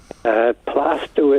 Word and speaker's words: Plaistow: Plaistow is pronounced.